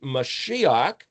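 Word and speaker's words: מָשִׁיחַ: might say, pure projected communication, which means it's Mashiach. Shin Yod Het Shiach means anointed, but it also means conversation and communication. So the mem prefix in front of Shin Yod Het then be pronounced Mashiach, transliterated as Messiah, projected transliteration Christ, literally the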